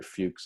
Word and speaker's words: Fuchs: big one was called the Fuchs hypothesis Viktor Fuchs is how you pronounce that name a few c fu CH